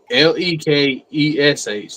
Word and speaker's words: Melechesh: Pronunciation would be Mehlekesh is how you would pronounce it. So Melechesh.